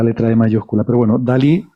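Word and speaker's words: DALL-E: que las gracias que querían hacer que se pronunciara como dalí pero hace el juego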